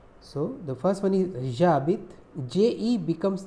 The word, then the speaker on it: j'habite: So the first one is JABIT, JE becomes J apostrophe before a verb. If it is starting with A, E, I, O, U or silent H, because H is silent in French and it is considered